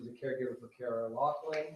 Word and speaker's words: Loughran: It is Loughran.